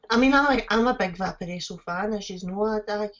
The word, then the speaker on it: Vaporesso: Vaporesso.